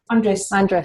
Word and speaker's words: Andres: How do I pronounce his name, Kim? Andres? Andres.